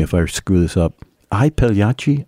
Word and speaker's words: I Pagliacci: I Pagliacci, or is it E Pagliacci? Do you know the correct pronunciation? E Pagliacci.